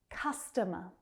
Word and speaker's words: customer: Customer. Customer. Again, that stress on the first syllable, the second and third reduce down to the schwa, the unstressed vowel sound.